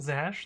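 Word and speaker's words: zsh: It's pronounced Zash, like dash?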